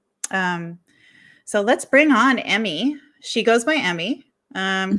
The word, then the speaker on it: Emy: emmy hello hello hi thank you did i pronounce that right emmy you did yep short and sweet awesome thank